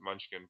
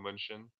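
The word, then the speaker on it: Mnuchin: I used to pronounce it Munchkin. Paul Munchen.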